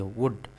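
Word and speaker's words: would: Pronunciation में pronunciation में एल आपका साइलेंट होता है। तो इसको वुड पढ़ेंगे। वल्ड नहीं पढ़ेंगे। वुड वुड बट मींस लेकिन हिज मदर मींस उसकी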